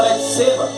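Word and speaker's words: Bate-Seba: fala batseba mas se se escreve batseba mas você fala betseba a mulher do senhor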